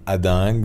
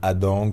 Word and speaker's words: Hadengue: Alors certains prononcent Tigrane Ading, d'autres Tigrane Adang, suivant qu'on est plus ou moins du nord.